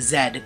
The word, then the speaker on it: Z: is a couch and it is pronounced Zed not Z Canada is the second